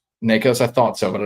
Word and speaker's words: Nikos: Um, the big three schools to watch per Pete Nikos for on three or Nakos. I might be saying his name wrong, which if I am Pete, I apologize. Isn't I think it's Nikkos. Nikos.